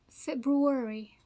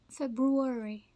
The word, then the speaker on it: February: it so what is the right way to pronounce it Li breary Li breur Li Brewery Li Brewery libr and this one February February February okay February February February perfect let's